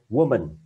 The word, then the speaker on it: woman: Chữ này đọc là war, ok, woman. Woman. Cái này là u, chữ u ngắn các bạn nha. Viết là o nhưng đọc là u, woman.